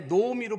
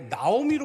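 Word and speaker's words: נעמי: 성경을 번역할 때도 아예 노오미로 번역을 하지 않고 아예 나오미로 번역을 해버렸어요. 실제 이름은 나오미가 아닙니다. 노오미. 그래서 우리가 이스라엘 사람들을 만났을 때는 그 이름을 다 노오미라고 발음을 해야지 뭐 그걸 가지고 나는 나오미다.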